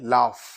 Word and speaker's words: laugh: यस, अब interesting ये है कि अल्फाबेट तो GH है बट साउंड फा की निकल रही है, लाफ.